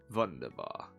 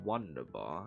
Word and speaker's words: wunderbar: Wunderbar. Did you guys know that apparently in German the W is pronounced as a V? I did not know that before. Apparently that's a thing. So it's not wunderbar, it's wunderbar.